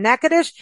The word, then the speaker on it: Natchitoches: have Nicole Connell back on the show from neades and go to neades docomo c h s and I think I pronounced that right did I do it okay